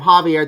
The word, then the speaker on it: Javier: I heard you say Javier, so I've been saying his name wrong the entire time. Javier, that's my bad.